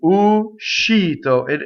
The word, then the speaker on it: uscito: And what I mean by that is that when you sing, you have to stop a little bit the u. Uscito. And the sh has to be completely on the next note, in the next syllable.